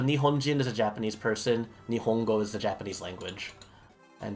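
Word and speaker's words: 日本: So if you say, like, Japan would be Nihon, Nihon, and then the language Japanese would be, Nihongo, and then a Japanese person would be a Nihonjin. Yeah. So Nihonjin is a Japanese person, Nihongo is the Japanese language.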